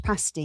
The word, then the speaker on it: pasty: How do you How do you pronounce it? Like a Cornish pasty.